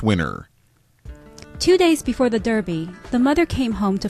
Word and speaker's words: Derby: the dirty yes the Derby well actually since it's England it's sometimes pronounced the Darby because English people are weird did you like my